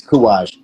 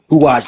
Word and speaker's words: Courage: It's Kuwaj. Courage. Kuwaj, like oorah.